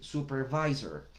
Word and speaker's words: supervisor: Que la inclusión de la letra V en el idioma inglés implica que nuestros dientes superiores estén contra nuestro labio inferior y soplemos. Entonces, como un supervisor, no un supervisor, que es la forma en la que utilizamos nosotros la letra B en el español.